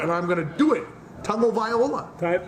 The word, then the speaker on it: Tagovailoa: Tagovailoa. Tongue. You gotta say tongue. Tagovailoa.